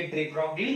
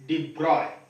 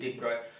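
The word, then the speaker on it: de Broglie: ये डी ब्रॉगली ने हम लोगों को पहले बोला था, लुईस डी ब्रॉगली. उसका प्रोनाउंसिएशन होता है लुईस डी ब्रॉय. प्रोनाउंसिएशन होता है लुईस डी ब्रॉय.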